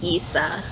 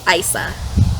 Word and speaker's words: Isa: point of view of issa no it's not issa it's isa knight yeah because she says it rhymes with nice and i was like